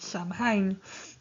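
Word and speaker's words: Samhain: accent um and so I'll be using the word Sam hay although strictly um well at least we think it should be pronounced so in but then again we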